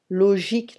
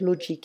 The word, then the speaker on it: logique: And the words ending in ICAL becomes ic, politique, économique, philosophique, astronomique, logique, not logic, hein, logique, okay?